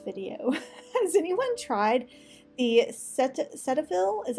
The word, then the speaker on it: Cetaphil: sunscreens in this video as it tried the Cetaphil is how you say it sunscreens I have